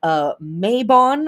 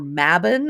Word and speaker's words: Mabon: This is going to be Mabon or Mabon. It's pronounced both ways.